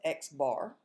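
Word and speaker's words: x̄: mean here's the symbol for it and it's pronounced x bar is computed using sample data the sample mean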